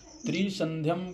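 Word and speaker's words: त्रिसन्ध्यं: पराजिता त्रोकेश्व ऐसे बोलना त्रिसंधम् को थोड़ा सा त्रि को थोड़ा आप दीर्घ कर देते हो त्रिसंधम श्रद्धायातः पुनः एक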